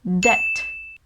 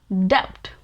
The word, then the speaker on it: debt: your head right now like what this word should be pronounced as dept i know sometimes english words don't sound logical at all but english is full of such crazy words so it's debt debt example if you don't